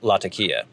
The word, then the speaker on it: Latakia: Clearly, the gold standard for how to pronounce Latakia is the lady running the tea shop in the Basil Rathbone Sherlock Holmes film, Dressed to Kill. She says Latakia.